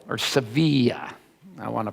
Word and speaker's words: Sevilla: They say the barber of Seville, or Sevilla, I want to pronounce that right.